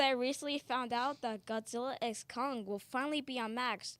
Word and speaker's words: Godzilla x Kong: Godzilla X Kong. X, not versus.